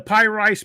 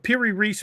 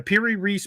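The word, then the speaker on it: Piri Reis: these creatures and even the py rice map the per Reese map sorry I'm hillbilly I pronounce it wrong the per Reese map even that map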